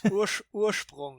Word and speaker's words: Ursprung: Ursprung is the German pronunciation, and it means origin, awesome.